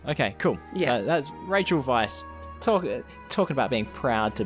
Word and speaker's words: Weisz: look, is it Raquel Weisz? Rachel Weisz? What? I don't know. Weisz? I believe it's Weisz? Rachel Weisz. Rachel Weisz. Yeah. Weiss, as in, like, because it's spelled like it's white in German.